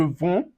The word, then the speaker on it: vends: Do you notice that je, tu, and il, the D is silent? Like, we're not pronouncing it.